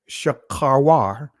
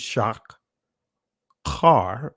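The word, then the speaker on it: שחורה: 5 I am black shakawar or some will pronounced as shock car but it's sha kawar this is ancient Hebrew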